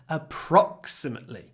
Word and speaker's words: approximately: we need the word approximately approximately so the stress is on the second syllable a so we make it longer not a imately with a o but approximately lots of P lots